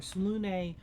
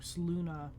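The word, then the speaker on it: Selûne: in this game too, pronounce it Salune. And I looked up, there's two pronunciations, either Salune or Saluna.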